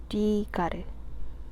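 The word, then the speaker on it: Gard: 써 줍니다 로새 마르탱 가르 거기다가 혹시나 이런 식으로 원어 발음이 원어나더 적어 줘요 근데 로제가 아니라 로즈네 로저 마틴 두 가드 가드를 가르라 부르네요 그리고 저는 어차피 이게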